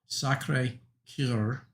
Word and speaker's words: Sacré-Cœur: I'm not good at speaking French, but I believe it's pronounced, I'll try not to butcher too bad, Sacré-Cœur, and it means the Sacred Heart.